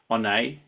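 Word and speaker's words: Oyonnax: We've had Rory Sutherland, who's come in from Onay. Is that how you pronounce it?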